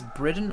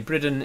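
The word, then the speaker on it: Bridan: remember or are new, is I think he's Briden, or is he full elf? I can't remember, actually. Let me look it up. Charlie is a Briden, yes. He's in his 50s. A Briden in my world is the B-R-I-D-A-N, is how it's spelled.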